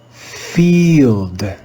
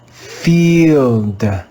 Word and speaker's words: field: practice reading this word field field field field in this word again you can see the digraph i e the e at the end of the word is silent let's practice reading this